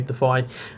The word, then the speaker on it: Defy: The Defy ranged, or Defi ranged, I think is actually how it's pronounced, which just sounds wrong to me, so I say Defy.